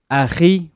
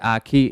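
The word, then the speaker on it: أخي: You're supposed to say it AKHi, but because that letter is not in English, it's pronounced as Aki in English.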